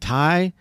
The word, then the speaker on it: Ty: fine I try I was like is it Tai or like is it pronounced I didn't know so I tried to go like in the yeah it's Tai man uh and people people call me Tai